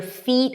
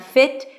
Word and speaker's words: feet: Get your feet, high E, not fit, feet wet. Fit is a different word.